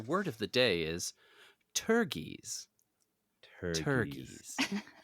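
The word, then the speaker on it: pteruges: And your word of the day is turgies. Turgies. Spelled with a P for some reason. P-T-E-R-U-G-E-S.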